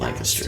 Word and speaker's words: Lancaster: But Lancaster is how you're supposed to say it really fast. Lancaster.